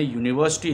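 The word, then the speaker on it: university: वो गलत है, क्योंकि जब हम इसकी प्रोनाउंसिएशन कर रहे हैं और जब तो वो य से होता है यूनिवर्सिटी, ठीक है, तो य व्यंजन में आता है न कि स्वर में आता है।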